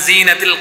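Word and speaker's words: جَانٌّ: এই অনেকে শেষে এসে নুনের হরকত উচ্চারণ করে, এটা সঠিক নয়। যেমন জান, এটা করা যাবে না।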